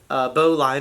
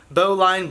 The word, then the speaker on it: bowline: however you want to three different ways to pronounce the dang knot that everybody says it different and then they want to argue with me that this is how you say it so boline bow line or bowline okay you're gonna tie